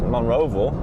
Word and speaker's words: Monroeville: It's Monroeville. Monroeville. Vol. I don't know how they get Vol out of Ville. It's south of Monroeville, called Excel.